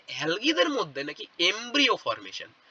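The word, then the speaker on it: embryo: কাকে এমব্রিও বলা হয় এটাকে এমব্রায় উচ্চারণ করবে না একে উচ্চারণ করা শেখো একে এমব্রিও বলে ঠিক আছে আমাকেও কেউ শিখিয়েছিল আমিও তোমাদেরকে তাই বলছি এটাকে এমব্রিও বলায়।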